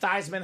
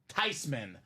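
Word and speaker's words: Theismann: be not even thian it's actually pronounced tyman the proper way just a slight smudge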